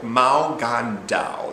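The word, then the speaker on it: 無間道: Infernal Affairs is the English version of the title Mao Gan Dao. That's what it's called, basically. That's its proper pronunciation in its native country.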